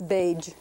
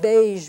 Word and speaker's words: beige: Now, some people pronounce this beige, and so that won't apply. But if you pronounce it beige with that sort of French consonant, a je sound, in I.P.A.